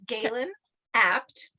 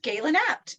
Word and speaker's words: Gaelen Abt: you and I'm just going to correct the pronunciation it's Galen apt the style Sherpa yes so just Galen apt yep nice and easy yes not easy at